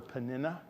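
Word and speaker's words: Peninnah: I was rereading about I've always called her panina Harper's bible pronunciation guide suggest that I call her panina uh but one of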